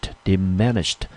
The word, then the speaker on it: diminished: 好， diminished 这个字呢中文我们就翻成所谓的减少或者是缩小减小缩减，我们这个字念成 diminished。 diminished 重音落在第二个音节， diminished。